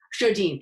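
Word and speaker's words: Sjodin: How do you pronounce her last name? Do you know? Shodine.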